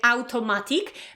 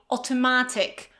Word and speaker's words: automatic: So it's not automatic. Probably it comes from the Polish language, right? Automatyczne. So right away we want to say automatic. But in English we say automatic.